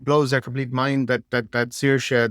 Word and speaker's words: Saoirse: complete mind that Saoirse, there's S with it's a seer, and then it's S as a sh. And you go, well, that's because the first S is broad and the second S is quail.